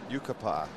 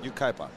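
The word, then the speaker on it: Ukiah: on who about the Uka oh Yuka Yuka Yuka Yuka California you kaip there we go P it's p Yuka Uka there we go nailed it yes what about Caleb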